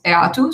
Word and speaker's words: EADTU: of Distant Teaching University, that we pronounce EATU. So if you hear EATU, is that, or EADTU, is the same thing.